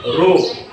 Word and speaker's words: rho: The pronunciation of this symbol is rho.